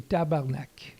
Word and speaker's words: tabarnak: do you pronounce well the french canadian way would be tabarnak like that uh 30 40 years